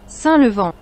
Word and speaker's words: Saint Levant: Inggris ya Saint levant tapi mungkin kalau bahasa Prancis bisa tanya di Google Translate how to pronounce Saint levant in FR French sa levon Iya seperti itu ya S levant ya gitu Tapi kalau dalam bahasa